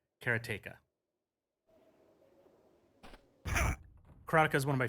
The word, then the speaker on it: Karateka: up to Jordan and Jordan pronounces it and I might get this wrong but he pronounces it karateka chronica is one of